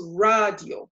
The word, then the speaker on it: radio: So this becomes radio. We look at the end, it ends with a vowel. So that tells us that we put the stress on the second to last syllable.